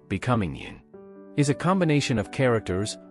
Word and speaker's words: 您: the common u, becoming yin. Is a combination of characters, with a heart added below to denote respect. In terms of pronunciation, it's similar to u, but with a rising tone towards the end, expressing a respectful attitude.